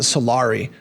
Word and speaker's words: Solari: I I keep pronouncing it salari. So I apologize. Either one is fine. Either one's fine is fine.